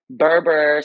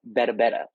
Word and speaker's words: Berbere: So we are using an East African, more so Ethiopian spice called Berbere. Mm-hmm. Some people not pronounce it Berbere spice, but it's called Berbere.